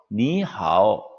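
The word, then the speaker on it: 你好: 오후 미 하오 자이기 성조가 니하오 이게 정확한 중국인의 발음 인데 인삼 말인데 니하오 없죠 여긴 상추가 없어요 노래 속에 쓰는 승조 가 필요 없어요 어 그렇지 많은 중국인들은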